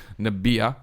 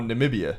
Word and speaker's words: Namibia: passengers went down in niia sorry about that one that's not how you say it but according nambia that's right there you go well see they got the extra eye though oh Namibia Namibia no is that